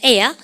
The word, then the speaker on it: heir: air. 여러분 공기가 아니에요. H가 묵음이고 air가 뭐예요?